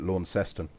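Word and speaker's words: Launceston: in tasmania too and they pronounce it lorne seston how am i meant to be pronouncing it again launston well we need to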